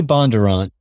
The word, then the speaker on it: Bondurant: different ways bondurant bondurant bondurant how do you pronounce your last name you say bondurant but yeah but but a lot of people